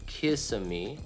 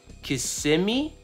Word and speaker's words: Kissimmee: crazy Kissimmee that's kissing me right common popular pronunciation kiss of me oh that's what I said I'm in trouble prevailing local pronunciation Kissimmee that's the stress those are coordinates to Kissimmee